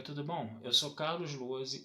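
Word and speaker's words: Lohse: Meu canal no YouTube é o Carlos Luozi. Luozi se escreve L-O-H-S-E, com Z, tá?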